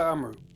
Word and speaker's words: Amro: was talking about excuse me um i say amro right yeah yes yeah that's how you pronounce it is a palestinian activist who um